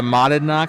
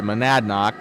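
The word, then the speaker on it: Monadnock: And same thing with the modded knock situ or sorry, manadnock is how you pronounce it.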